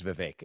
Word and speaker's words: Vivek: you for saying my name correctly it is Vivek so here's what I will say I think